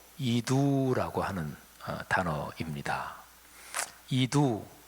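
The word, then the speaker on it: ἰδού: 헬라어 발음으로 이두라고 하는 단어입니다.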